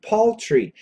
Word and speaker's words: paltry: dollars the dollars poultry get that pronunciation poultry it's an aw Paul tree paltry p a l t